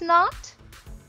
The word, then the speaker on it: knot: started kids now rules the letter k is silent when it is followed by the letter n at the beginning of the word so the letter k